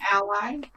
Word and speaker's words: Allay: do you say that an alley or an ollie C get it you're an ally the the cold see